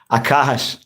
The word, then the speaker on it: Akash: Hey man, you pronounced my name the correct way. Nice. Akash.